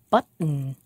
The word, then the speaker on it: button: american english speakers say button cotton can you hear it when the word has a a t and a vowel and an n at the end we make a glottal stop and we don't say